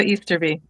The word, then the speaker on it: Easterby: Her name is. Close enough. Easter B. Easterb. Okay. Okay. I'm not good at pronunciation sometimes. No one gets that one right ever. Easter like the holiday, be like the bug.